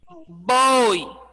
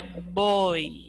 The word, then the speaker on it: voy: som de bebê boi ao invés de ser voy é boi vamos vamos tá bom tanto é que ele vier no início como no meio de alguma palavra vai ser pronunciado com o som de beber bem suave não é bom hein não boi a palavra boi não é boy boy oriental ao tobogã